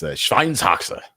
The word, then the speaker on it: Schweinshaxe: And, yeah, it's Schweinshaxe.